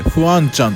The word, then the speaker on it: 防川: にあるフアンちゃんこれボカと書いてフアンちゃんと読むみたいなんですがそちら